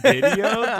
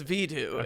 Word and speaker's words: Vidu: that, and it's called Vidu, V-I-D-U. I was waiting for you to say it first. Okay. I was like, Vidu? Video? Voodoo? I'm calling it here. It's Vidu, and everyone argue with me in the comments about it.